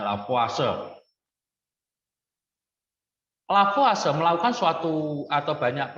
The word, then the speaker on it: Lavoisier: Orang Prancis ya, bacanya Lavoisier.